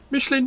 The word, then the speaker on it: Michelin: I keep saying Michelin. That's the French pronunciation as far as I'm aware.